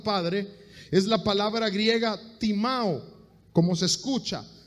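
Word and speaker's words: τιμάω: honra a tu padre es la palabra griega timao como se escucha t i m a o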